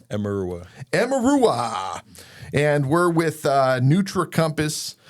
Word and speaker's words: Emeruwa: Today we've got Justin Mickle and, how do you pronounce the last name? Emeruwa.